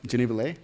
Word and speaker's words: Geneva Lei: have a very special guest with us today Geneva Lee am I pronouncing that right genevalay perfect um so she uh she's a singer